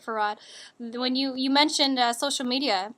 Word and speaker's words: Fard: Farad. Uh, that's spelled Fard.